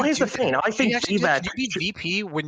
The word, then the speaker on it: Vivek: And the only reason I know it's Vivek is because in his little rap he says Vivek rhymes with cake.